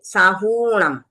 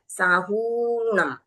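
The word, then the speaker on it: साहूणं: वैसे ही साहूम यहां पर रस्व सॉरी दीर्घ उ की मात्रा है। रस्व नहीं है। इसके लिए हमको बोलते समय उसको थोड़ा लंबा लेना है। साहूम फिर पढमम ये ढ ढक्कन वाला है।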